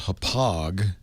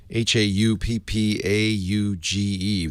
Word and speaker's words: Hauppauge: There's a company called Hauppauge, Hauppauge.